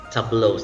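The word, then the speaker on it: tableaux: last example is tablos tablos spelling has letter s as the last letter but the pronunciation is tablos that's a plural form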